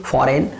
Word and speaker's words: foreign: तो फॉरेन में भी ये जो जी है वो एन के बिफोर आ रहा है और यहाँ पे भी हमें जी को साइलेंट करना है।